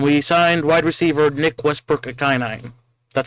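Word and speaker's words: Westbrook-Ikhine: Yeah, and we signed wide receiver Nick Westbrook Akinine. That's how you pronounce his name.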